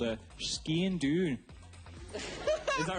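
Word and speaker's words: sgian-dubh: I've just learnt from Scottish producer Vic that this little sword in my sock is called a Skean Doon. Is that right? Okay, guy, got review on his pronunciation?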